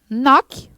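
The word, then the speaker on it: knock: nome em branco mas não pronunciamos a letra k não pronunciar a letra cara como se não existisse o cai você fala assim ó noc noc o Ok então como você tirar tem esse cá da palavra tá bom essa é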